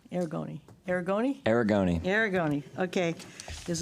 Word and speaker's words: Aragoni: Aragoni. Aragoni? Aragoni. Aragoni, okay, is a duly authorized agent per section 12.2. Stephen? Yes, so I would just like to first mention that Jeffrey Aragoni, he has taken the Inland Wetlands training course